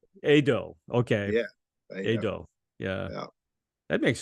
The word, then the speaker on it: Edo: you know I love it my name is pronounced Ado Ado okay yeah yeah that makes sense well most most English people speaking people say Edo Edo yeah but never mind well it's kind of